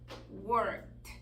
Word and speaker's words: worked: vamos a hacer esto la letra de muda worked answered Entonces fíjense como la letra e es muda por ahí esa es